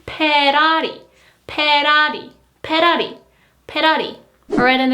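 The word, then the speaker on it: 페라리: Again, there is no F sound, so it is Ferrari.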